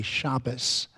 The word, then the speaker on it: Shabbos: There is Ashkenazi, which pronounces the tav with a dot in it as an S sound. So they say Shabbos instead of Shabbat.